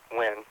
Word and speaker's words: Nguyen: I believe that NGU, Vietnamese, is pronounced like a W. So I believe it's France Nguyen.